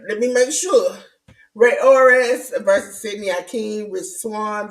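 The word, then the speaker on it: Rey Horus: uh we have uh Ray or how you pronounce that J news because I about to mess it up orus or yeah Ray orus exactly yeah Ray orus that's I was like let me make sure Ray orus versus Sydney aen Rich Swan versus man like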